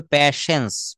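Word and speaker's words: patience: মাই প্যাশেন্স hearing hearing অর্থাৎ ধৈর্য ধরে প্যাশেন্স উচ্চারণ হবে প্যাশেন্স প্যাশেন্স থ্যাংক ইউ আরেকটা পেশেন্ট পি এটি আই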